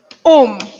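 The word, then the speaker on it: homme: a h it is om so it's going to be c e t because h is silent and we pronounce the o so it's going to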